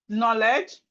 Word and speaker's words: knowledge: Knee, knock, no, knuckle, knuckle, night, nail, knee, knock, no, knuckle, night, nail, knowledge, knockout. We also look at some words with silent letter H.